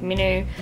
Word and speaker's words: Minho: heart really belongs to Minho which is how I pronounce his name but the movie pronounced like minu but um yes he's